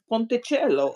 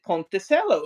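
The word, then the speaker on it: ponticello: Uh, but he pronounces it ponttoello and he's like completely convinced that that's the way it is. But I I didn't say but Italian, you know, is a phonetic language, meaning that it it's very consistent.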